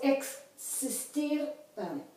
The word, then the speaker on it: existir: So, if the X is in front of a vowel, then the sound is KS. So it's existir.